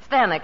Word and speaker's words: Stanwyck: Stanwyck, it rhymes with Zanuck.